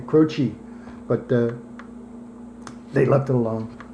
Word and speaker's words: Croce: They were going to spell it phonetically, Crochee, so it looked like almost Indian, Right. like a Native American name, Croce.